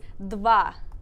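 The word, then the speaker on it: два: So, dova. Yep. Dova. Yep. Now put them together a little bit faster. So it's dva. Dva. Excellent. Dva.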